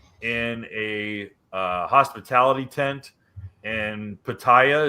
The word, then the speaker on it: Pattaya: a hospitality tent in Pattaya. Is it Pattaya? Is that how you pronounce it? That's what I say, but I think the locals, it's like Pattaya. Well, in Pattaya, Thailand.